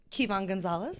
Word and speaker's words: Kyvann Gonzalez: Kyvann Gonzalez.